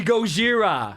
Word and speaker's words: Gojira: to pronounce it well they were originally named Godzilla but then they were sued by the Japanese Godzilla so they had to change their name to goira which is the Japanese ramanji way I was